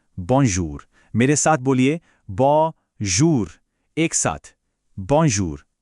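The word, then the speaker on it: merci: मेरे साथ बोलिए बॉन्जूर, एक साथ बॉन्जूर। बहुत अच्छे। ठीक है, अगला शब्द है मर्सी। याद रखिए आखिर में ई की शार्प साउंड है। बोलिए मर्सी।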